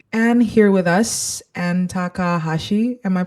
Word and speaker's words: Takahashi: Ant Takahashi. Am I pronouncing that correctly?